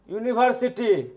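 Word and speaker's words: university: यून यूनिवर्सिटी यूनिवर्सिटी का यू जो है कसोनेंट यानी कि व्यंजन से उच्चारण होता है।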